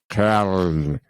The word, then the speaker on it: Köln: I have a friend whose wife is German, and the way you pronounce Cologne in German is Köln.